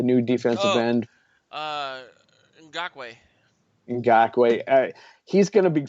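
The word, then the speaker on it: Ngakoue: The new defensive Oh, end, uh, Ngakwe.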